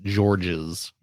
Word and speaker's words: Georges: I believe it's pronounced Georges.